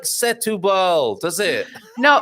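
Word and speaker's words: Setúbal: it looks nothing like setubal does it no it's not the accent is not there the accent is on the u and it's not it's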